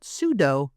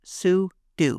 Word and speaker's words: sudo: Now it's Speaker: tempting to call it sudo, but it's actually pronounced soo do.